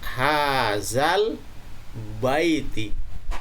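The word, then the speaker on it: هذا البيت: Apabila ini berhenti, maka bait di sini terkena hukum mad lain, yaitu bacaannya menjadi hazal bait, hazal bait.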